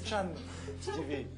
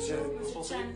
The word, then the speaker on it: Tchan: Ça ne se prononce pas de la même manière. C'est pas Monsieur Chu, c'est Monsieur Chan. C'est Chan.